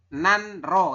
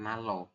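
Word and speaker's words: 난로: Halusnya kan nanro kayak gitu ya secara tulisan. Ya. Tapi Anda nanti bacanya adalah nalo. Nalo gaisoyo.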